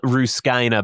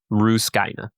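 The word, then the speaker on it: Rusukaina: his training arc with on an island called Ruskina, by the way, in case you're wondering how to pronounce it. Ruskina.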